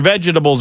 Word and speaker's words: vegetable: the word ve and I'm going to pronounce it vegetable. Why are you? Once again, I got the stinky face look like you just had explosive diarrhea all over yourself. Vegetable. There's an E in there.